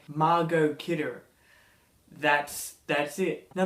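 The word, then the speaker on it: Margot: i think i learnt her name how to pronounce her first name margo kidder that's that's it now this is the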